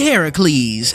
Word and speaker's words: Heracles: number three pool party Heracles and yes that is actually how you say say his name you know number nine